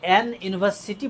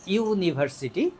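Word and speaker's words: university: অনেকেই ভুলে এই জায়গায় এন ইউনিভার্সিটি বলে ফেলবে। তো এন ইউনিভার্সিটি কিন্তু আসলে হবে না, কারণ যদি ইউ এর উচ্চারণ ইউ এর মতো হয়, এটা একটা ছোট্ট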